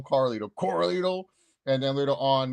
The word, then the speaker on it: Carlito: Yeah, I'm talking to you, Corlito. Freaking mispronouncing Corlito. it. Yeah, Corlito. Did not call him Carlito.